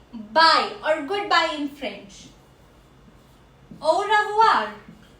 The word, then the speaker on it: au revoir: Au revoir. Au revoir. Au revoir. OI has a sound of OUA in French.